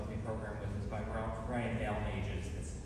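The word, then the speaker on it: Balmages: So our next work that we're going to close our intermediate orchestra portion of the program with is by Brian Dalmages. That's how you pronounce his last name.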